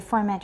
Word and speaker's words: formant: Okay, formant, remember, it's a schwa in the second syllable.